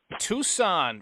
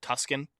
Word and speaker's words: Tucson: Tucson for some reason whenever I read Tucson like the word written out I always pronounce it Tuscan even though I always I know how it's you know what it's supposed to it's just weird um I've